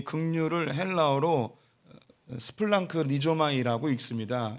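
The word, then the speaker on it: σπλαγχνίζομαι: 이 긍휼을 헬라어로 스플랑크 리조마이라고 읽습니다.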